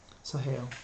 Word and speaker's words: Sahel: It's spelled S-H-E-L. S-A-H-E-L. Sahel.